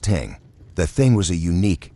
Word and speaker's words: thing: or more commonly to the local thing pronounced ting.